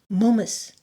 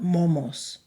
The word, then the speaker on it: Mómos: Momus, not Momos.